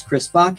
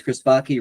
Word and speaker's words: Chris Backe: My name is Chris Backe, it rhymes with hockey, and I have just a couple things to show about myself before we get started here.